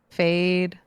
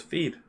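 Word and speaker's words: Feid: Oh, fade. F E I D. Yeah. Yeah. Yeah, I know. I know. Fade. Oh, that's how you say it. Fade. I always thought it was feed.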